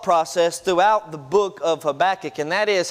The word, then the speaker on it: Habakkuk: been saying it right it is habakkuk okay so if you say habakkuk you said it right if you say anything else sorry but you're wrong uh there are a